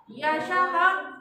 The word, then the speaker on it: यशः: मम नाम यशः अस्ति, यशः नहीं, यशः। हाँ, ह नहीं लिखना है, विसर्ग को ह की तरफ जोड़ देके प्रोनाउंस करते। यशः अस्ति, यशः बोलेंगे तो ह हो जाएगा।